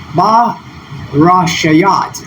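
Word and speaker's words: בְּרֵאשִׁית: And so with this new character up front, this would be pronounced Ba-Rashat. Ba-Rashayat. I'm sorry for that first mispronunciation.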